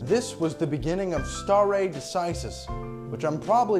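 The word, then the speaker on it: stare decisis: the takeaway point is star a decisis a term I mispronounced about 30 seconds ago star a decisis a fundamental pillar of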